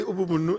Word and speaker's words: Ubumuntu: And then from its original meaning, Ubuntu, they call it Ubumuntu. Ubumuntu, but they say Ubumunu, and that's how they pronounce it.